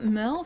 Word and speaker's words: Merle: Help Merle figure out what the Bog Witch has been up to. Hey there. Okay. I'm Merle, spelled like Hurl.